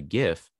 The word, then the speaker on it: GIF: So that's the GIF file. Quick note on the GIF file. The G in GIF or GIF does technically stand for graphics or graphical. So the correct pronunciation is technically GIF, but you'll hear me